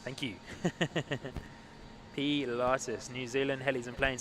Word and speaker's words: Pilatus: Zapud, let me know it is pronounced Pilatus. Thank you. Pilatus.